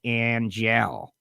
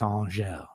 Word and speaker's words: Angelle: I've always said Angelle. And now I know it's Angelle, which I learned that thanks to spending a little time down there.